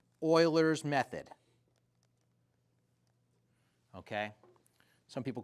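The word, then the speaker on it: Euler: And this is called Oilers's method. Okay. Some people call it forward oiler. There are a few names for it. Okay. It's spelled Uler, but cool people call it Oiler.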